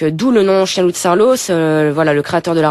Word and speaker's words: Saarloos: CTIN ou chienlou charlos Bretagne Sarlos ça s'écrit S2A r l 2o s vous faites beaucoup d'expos